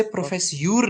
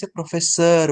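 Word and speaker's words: professeur: आर ठीक है किसी भी वर्ड के लास्ट में अगर ईयू आर आता है जैसे प्रोफेसर सो इसे प्रोफेस यूर नहीं बोलेंगे प्रोफेसर बोलेंगे अर अर ओके द साउंड इज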